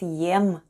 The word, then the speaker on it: ем: The first sound is ye, and then we have m, and all together it's yem.